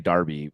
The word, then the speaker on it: derby: I still like saying I like saying Derby even though it's spelled with an E yeah uh I like